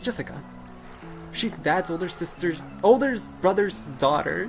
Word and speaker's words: Jessica: You see, it's pronounced Jessica.